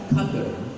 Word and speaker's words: Qatar: He said, he will actively remind all of you that Qatar is pronounced as Qatar.